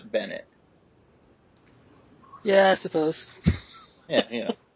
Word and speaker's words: Bennett: Is his name Bennett? I've been pronouncing it Benet like all week. Yeah, it's it's Bennett.